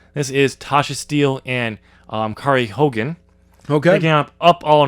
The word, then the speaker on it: Kiera: I do like how you pronounced her name 3 different ways. Yeah. It's Kiera. Kara.